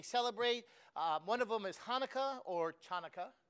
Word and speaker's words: Hanukkah: One of them is Hanukkah or Chanukah, but it's Hanukkah. You don't pronounce the ch.